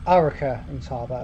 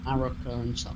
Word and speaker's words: Arrochar and Tarbert: Yeah, Arrochar and Tarbert, I think it's pronounced. Arrochar and Tarbert, yeah.